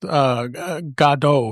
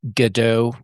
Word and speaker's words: Godot: And in our private chat, you did say it's pronounced Godot, right? Well, I don't know how they're pronouncing it for this, but I was always interpreting it as the Godot project, Godot. like waiting for Godot.